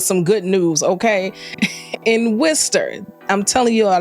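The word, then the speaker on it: Worcester: good news Okay in Worster I'm telling you all that's not how it's spelled but that is how it is pronounced in Wester cities located in Massachusetts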